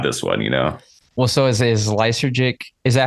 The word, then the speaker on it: Lysergic: let them have this one, Well, so is Lysergic, is that how you pronounce it?